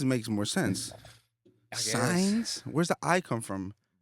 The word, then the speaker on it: Saenz: Saenz? I said it right? Like signs. J.Saenz?